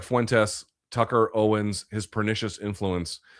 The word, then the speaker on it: Fuentes: Can you please pronounce his name correctly?" Like Tess as in Tesla. Fuentes.